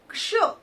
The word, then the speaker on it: क्ष: क आधा क जमा श पूरा श इन दोनों को मिलाकर आधे क और पूरे श को मिलाके बना शत क्ष जिसमें आधे क का उच्चारण होगा और श का उच्चारण होगा।